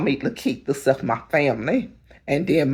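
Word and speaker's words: Likitia: When I was in school, my teachers told me that I didn't pronounce my name right. My name is spelled L I K I T I A. And my mother always family parents always told me my name is Lita.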